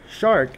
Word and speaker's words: searc: The So similarly for s e a r c it's pronounced technically shark. Most people read it circ or sherk or something